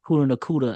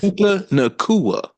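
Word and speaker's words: Puka Nacua: Seem like the Rams are starting to get their players back from injury, even though Puka Nakuda, I can never say his name right, got hurt in practice. Puka Nakua.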